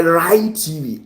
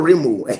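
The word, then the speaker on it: Rime TV: It's spelled like Rim, right? But the actual pronunciation is Rhyme TV. And it's not the rhyming like rhyming words. That's a rhyming one, not that one.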